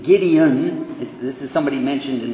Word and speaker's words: Gideon: it's put there by the Gideon Society not gidy Gideon this is somebody mentioned